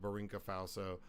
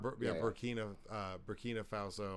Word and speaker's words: Burkina Faso: So this 34-year-old army captain took over of Barinka Faso on Friday over Burkina. I was saying it wrong. Burkina Faso on Friday, overthrowing Lieutenant Colonel Paul Henry Sandango